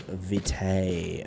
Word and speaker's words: Vitae: It's Vitae, okay? I've learned how to pronounce that.